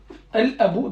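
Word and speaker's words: الأب: Al-Abou, donc. Al-Abou. Al-Abou. Al-Abou. Donc le père. Al-Abou. Al-Abou. Al-Abou. Vous entendez le L là? Il est là, il est présent en fait.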